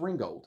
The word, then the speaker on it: Ringgold: where she was so so we you don't pronounce it Ringold Georgia in fact that's where Dolly Parton got married by the way a little fun fact for you folks out there um it's not pronounced Ringold it's pronounced Ringo Ringo Georgia and so this